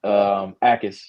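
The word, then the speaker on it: Jacas: Akis. He's somebody that I knew I said that. Yeah, hey, the J is silent.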